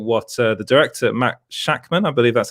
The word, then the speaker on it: Shakman: you look at what uh the director matt shakman i believe that's how you pronounce his name the director of one division